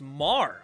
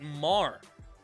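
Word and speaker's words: Maher: Mayer is my last name. It's pronounced Marr. Oh, okay. So Brett Marr. Fair enough. Thank you for letting me know. Like the planet without the S.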